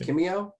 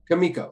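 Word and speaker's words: Kimiko: it naturally um and kimio i always pronounce it wrong me is it kimio kamiko kamiko thank you god kamiko also was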